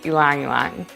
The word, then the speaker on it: ylang-ylang: ylang ilong ylang yong it's hard to know how to pronounce this oil's name but the correct pronunciation is ilangilan hi i'm katie from